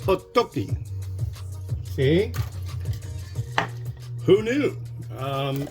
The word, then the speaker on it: Otoki: It's not o to o t o g i. It's o toki. O t o k i.